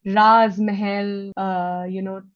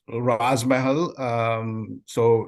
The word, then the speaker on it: Raaz Mahal: So Raz Mahal, and of course, it rhymes with Taj Mahal.